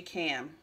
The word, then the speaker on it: calm: all right overall energy cam that's how i think you say it i think that y is silent focus on listening to